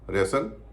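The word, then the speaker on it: wrestle: जसल में नहीं होता रेसल यानी कुश्ती करना इसमें भी टीका उच्चर नहीं होता बिसल कासल इन सब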